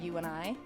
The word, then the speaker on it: Youni: the regular way so I spell it y-o-u-n-i so it's literally you and I and the T is for together so you and I